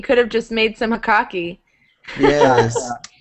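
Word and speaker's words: jocoque: What's it called? Hokaki? Yeah, hokaki. I will post a link for you to see. How do you spell it? I'll Google it. Okay, J-O-C-O-Q-U-E.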